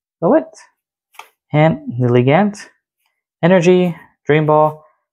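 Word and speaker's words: Floette: That's how you pronounce its name. Floet.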